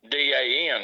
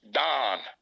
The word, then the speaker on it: dan: said they call it d-a-n he said it's not pronounced dan and uh it's pronounced don and it means off